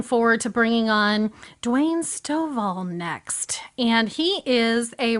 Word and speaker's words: Stovall: But first, I just want to make sure how do we say your last name so that I'm not mispronouncing it? Stovall? Stovall.